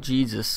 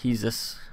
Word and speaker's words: Jesus: And I was looking at Juan Jesus, or Jesus, I think he's Brazilian, so I imagine it's pronounced with a H.